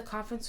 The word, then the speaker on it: conference: Contraire de la prononciation en français, avec ce mot, il y a un peu plus un accent sur la première partie du mot.